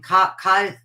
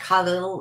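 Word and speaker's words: Kahlil: And I went and bought every book by, I mispronounce his name, Cahill Gibran, I call him, but his name is pronounced like Khalil or something.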